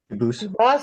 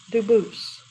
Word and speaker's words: Dubus: They do pronounce it dubis, but you said you pronounce it dubus as the original dubus. as the original French. Yep. Very well, Duboose.